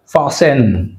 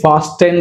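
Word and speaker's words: fasten: ఫాసెన్, right, ఫాసెన్ అంతేగాని ఫాస్టెన్ రాదు ఇక్కడ, చూడండి ఫాసెన్, టీ ఇస్ సైలెంట్, ఫాసెన్.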